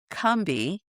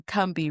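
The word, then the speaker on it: Combahee: So the Kumbi is the Cumbi River and this is how it's pronounced by people of the region.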